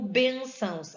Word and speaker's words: bênçãos: Assim como bênçãos, a sílaba tônica está no ben, tá?